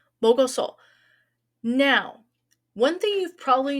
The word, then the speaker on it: 먹었어: 먹었어. 먹었어. We have an extra syllable from when we had the casual, didn't we? Okay, os. We wedged os between the mok and the adhesive vowel. Mogoso.